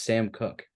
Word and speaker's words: Sam Cooke: It was I'm not 100% sure if I got the pronunciation correct, but it is Sam Cooke. That's the pronunciation and the guys.